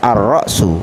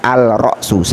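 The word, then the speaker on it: الرأس: adalah huruf Syamsiah maka cara membacanya Arok su bukan Al roxus Allah jadi arrow artinya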